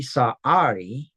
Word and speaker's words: Sarai: And then after that then he says then God said to Abraham regarding Sarai your wife her name will no longer be Sahari which is actually the proper pronunciation here.